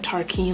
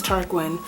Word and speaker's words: Tarquin: I wanted to pronounce it like Tarquin, like Joaquin, but it was Tarquin.